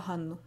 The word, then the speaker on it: Hannu: Han, a bit like in Han Solo and N. I couldn't come up with an English word with that exact same sound, but it's a bit like in the word noon, but with a shorter sound. Together, they are hanu.